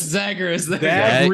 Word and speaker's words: Zagreus: Zagreus.